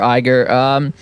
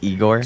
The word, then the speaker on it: Igor: vote no problem sir Eiger this Lord is uh he pronounced Igor sorry Igor sorry Igor my bad he bowels and